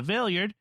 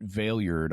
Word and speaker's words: Valeyard: And then on the episode prior to that, episode 156, the Big Finish Trial of the Valeyard, Kathy writes via email, I was wondering if the word is vieillard, which is French for old man.